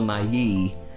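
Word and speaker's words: Nighy: the actual bill NY not Bill NY bill Nai oh okay however you say his name I'm pretty sure it's Bill Nai all right then that's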